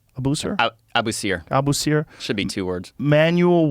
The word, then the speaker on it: Abusir: Abusir? Abusir.